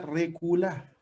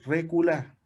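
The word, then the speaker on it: רכלה: Pero también en el hebreo original la palabra se llama reculá, que se escribe R-E-K de kilo U-L-L-A-H, reculá, que significa contratación, mercaderías, tráfico, mercancía.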